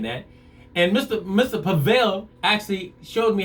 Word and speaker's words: Pavel: me what to say how to say his name it is pavel p-a-v-e-l pavel all right so